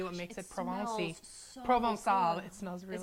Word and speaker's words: Provençal: So Provençal.